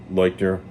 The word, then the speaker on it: Leuchter: So I might say Fred when I'm discussing him in this video, though I'll try to say Leuchter, which is how I pronounce it.